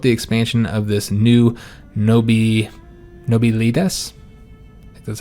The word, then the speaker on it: nobilitas: We must decide whether to promote the expansion of this new nobilitas, that's how you pronounce that, as a middle ground, or given to the populist demands for reform.